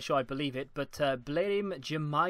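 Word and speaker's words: Blerim Džemaili: I believe it but blim Jama is how you say this guy's name that sounds wrong to me but we'll uh we'll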